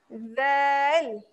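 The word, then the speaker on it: ذال: Adakah bunyi dia zal? Kan? Kenapa ejaan dia ada D? D, Z, A, A, L. Ni.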